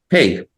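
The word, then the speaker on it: פ: So pay is without the marking at the middle. It sounds like F. Okay, and with the marking in the middle, it sounds like P.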